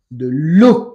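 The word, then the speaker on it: de l'eau: De De lo. le. De lo. E-A-U, pero se pronuncia lo.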